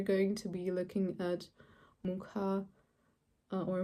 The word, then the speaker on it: Mucha: Today we're going to be looking at Mucha or Mucha. When I was in Prague, they pronounced it Mucha, I think. But I watched a video on Art Nouveau and someone said Mucha, so no idea.